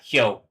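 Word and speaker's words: 雹: Yeah, Hyo.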